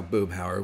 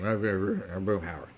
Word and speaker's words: Boomhauer: Yes, I said that right, because that's how Boomhauer would say his name. Boomhauer.